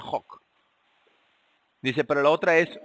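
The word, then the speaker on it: חק: Ahora esta palabra, estatutos, que tenemos aquí, esta palabra eh, la primera palabra viene de esta palabra chok o hok, se pronuncia hok.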